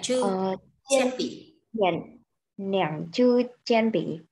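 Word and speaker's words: 铅笔: Chen pỉ nhá. Đấy, cái từ bút chì đọc là chen pỉ.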